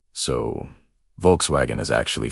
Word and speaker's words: Volkswagen: The German W is pronounced like an English V. So Volkswagen is actually Volkswagen V.